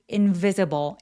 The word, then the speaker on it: invisible: weave invisible invisible 여기 포인트는 V의 강세가 오는데 V 발음 앞에 바람이 확 느껴지도록 invvisible invvisible이라고 바람을 꼭 내뿜어 주셔야 돼요.